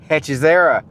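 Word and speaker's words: Hechicera: They told me it says Hechizara.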